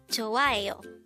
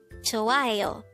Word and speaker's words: 좋아해요: 좋아해요. This is pronounced as a 4-syllable word.